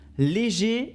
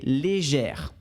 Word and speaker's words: légère: gèrent les gère d'accord on prononce le r finale quand c'est au féminin et au masculin on a juste le son et et légère léger très